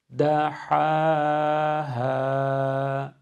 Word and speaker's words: دَحَاهَا: Orada ha ile ha'yı telaffuz ederken aynı miktarda uzatıyoruz ikisini de. Hem de aynı fetha tonuyla uzatıyoruz. Ha'yı kalın okumuyoruz. Ha ha yanlış bir ifade. Da ha ha şeklinde ikisini de ince hem de aynı miktarda uzatarak okuyoruz. Bir daha okuyorum.